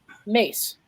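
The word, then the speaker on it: Myss: very special gift and her name is Carolyn mace it's spelled miss m-y-s-s most of you probably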